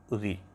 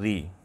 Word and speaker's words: ऋ: उनको ह्रस्व स्वर अ, इ, उ, री। जो ऋषि है उसका उच्चारण हमारे यहाँ किया जाता है री, और गुजराती मराठी में इसको रू भी कहा जाता है।